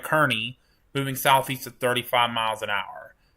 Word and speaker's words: Kearney: Got to say it right, Kearney, moving southeast at 35 miles an hour.